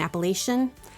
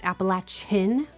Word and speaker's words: Appalachian: Um, I know I grew up saying it the way they say it in certain parts of the north, Appalachia and Appalachian, but it is Appalachin. It's that latch is really hard being here and people who live here.